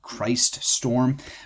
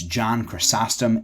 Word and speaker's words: John Chrysostom: title it is John costum and some people pronounce it chrysm some people they look at it and they think Christ storm but it's John chrysostom and that means golden mouthed and so he